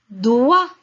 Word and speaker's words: doigt: Doigt. Doigt, la lettre G et T sont muettes, on ne les prononce pas.